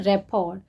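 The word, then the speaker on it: rapport: Next word है रैपॉर। रैपॉर, इसके pronunciation में टी साइलेंट रहेगा, तो इस बात का ध्यान रखिएगा।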